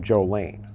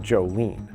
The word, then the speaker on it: Jolaine: Another mystery in this case is she pronounced her name Jolene, not Jolene, which is what was written on the sole of her foot.